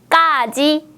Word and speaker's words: 까지: 까지, 몇 번이에요? 네, 맞습니다. 3번 까지입니다. 앞에 단어를 발음할 때는 까라고 힘을 많이 주었고요. 뒤에 있는 음절을 발음할 때는 일반적으로 바람을 내보내면서 소리를 발음했습니다. 다시 들어볼까요?